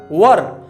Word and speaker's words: were: वॉज या वर, WERE, वर। कई लोग इसको वेयर भी पढ़ते हैं, लेकिन सही उच्चारण होता है वर। आप वर का उच्चारण करें, ये ज्यादा अच्छा होगा।